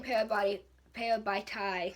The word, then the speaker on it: Parabatai: I love showing Parabatai, that's how you say it, fighting, because we didn't get to see any of that in the book.